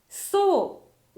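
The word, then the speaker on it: 草: そうはどうですか？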